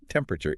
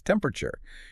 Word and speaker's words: temperature: It's not temperature, it's temperature. You squash the middle right out of it bending the word in half and you lean heavily into that first syllable.